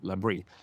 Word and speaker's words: Labrie: kanadensiskt bolag som jag tror heter Labrie, eller uttalas Labrie.